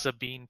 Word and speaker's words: Sabine: had a picture earlier of somebody right it's pronounced Sabine Parish Sabine Parish in Louisiana is under a